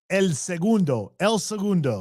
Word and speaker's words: El Segundo: Well, how do you pronounce it? El Segundo.